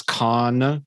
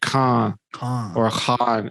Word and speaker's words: Khan: even pronouncing it wrong they definitely don't say it over there as khan with a hard end they might say that in the west here but it's more like uh you know like khan it's actually like a it's like with a bindi at the bottom so it's more like ha yeah but yeah okay